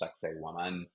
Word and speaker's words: Sacsayhuaman: In fact, the guides often make fun of the name of this Incan site because it sounds like sexy woman, in fact, pronounced Sacsayhuaman.